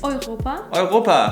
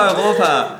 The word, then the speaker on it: Europa: bien y el último para esta categoría es eu como en Europa No, eso está mal, chica! Oiropa? ¡no! -¡Sí, por supuesto, Oiropa! -¡Nunca había escuchado eso antes!